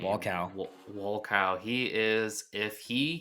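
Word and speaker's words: Wolkow: How do you pronounce his last name? Walcow.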